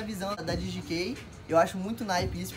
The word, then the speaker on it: DGK: um tempo, é a DGK. Pra quem não conhece, tem gente que chama de DGK, mas na real a pronúncia é inglês, né?